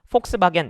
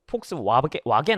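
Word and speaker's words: Volkswagen: W인데 베버라고 발음을 한다는 것 자체가 이 사람이 폭스바겐 뭐 이런 식의 발음에 가까운 거죠. 폭스바겐이잖아요. 원래 저 폭스와겐 아니겠습니까? 그래서 독일어에서는 W를 V 발음을 이제 하는데 정확하게 V 발음은 아니지만 하여튼 그렇습니다.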